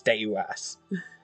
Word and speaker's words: Deus: Why did I call him Deuce this entire time? It's Deus.